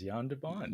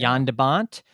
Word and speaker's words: Jan de Bont: So Roar, shot by cinematographer, and I correct me if I'm saying the name wrong, Jan de Bont. Is Oh, that correct? from the Netherlands, Jan de Bont. Yeah, Jan de Bont, yeah.